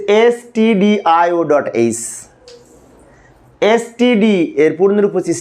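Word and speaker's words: stdio.h: লিখবো include ST এইচ এটা কিন্তু স্টুডিও না অনেক শিক্ষার্থীকে আবার স্টুডিও বলে আমি একজন সরকারি কলেজের শিক্ষক যখন ক্লাসে পড়ায় শিক্ষার্থীরা কিছু কিছু শিক্ষার্থী উচ্চারণ করে স্টুডিও আসলে স্টুডিও না এটা হচ্ছে এসটি এইচ এস টিডি এর পূর্ণরূপ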